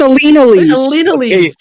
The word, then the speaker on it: Elinalise: Do I pronounce It's not Elinalise? spelled wrong, but you pronounced it wrong. Yeah, dear God. Elinalise. No, it's Alina Lise.